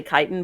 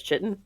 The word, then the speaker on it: chitin: of like how the word is technically chitin but everyone in the world says chitten because it's more fun to say well it's also spelled like that yeah if they want me to say chitin they'll spell it with a k that is always the